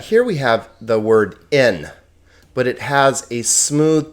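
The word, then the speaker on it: ἐν: we have the word in but it has a smooth breathing Mark okay and that smooth breathing Mark is not pronounced so this word is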